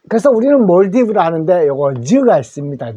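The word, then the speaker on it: Maldives: 꼭 알아두십시오 아시아를에 어 말레이시아 레레이 됐죠 그다음에 몰디브 자인데 우리 요거 그 한글로 읽으면 말리 되죠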